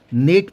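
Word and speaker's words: gnat: और एन आता है अगर जी से पहले एम और एन आता है तो जी साइलेंट हो जाएगा जैसे मैंने लिखा यहां पर जी एन एटी तो उसको हम नेट पढ़ेंगे जी साइलेंट हो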